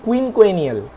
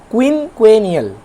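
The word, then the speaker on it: quinquennial: কুইনকুয়েনিয়াল। কুইনকুয়েনিয়াল স্পেলিংটা লক্ষ্য করো, QUENNIAL। তোমরা ভেঙে ভেঙে এভাবে উচ্চারণ করবে, তাহলে তোমাদের মনে থাকবে। আবার বলছি, কুইনকুয়েনিয়াল।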